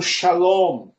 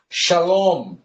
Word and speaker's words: shalom: Da direita para a esquerda, vocês terão som de chá, shi. Por exemplo, shalom. Olha só, shalom, a palavra mais conhecida da Taná, aqui, ó.